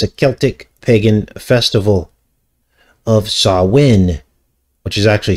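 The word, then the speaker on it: Samhain: celtic pagan festival of sawin which is actually spelled s-a-m-h-a-i-n but it's pronounced sawwin and this fifth of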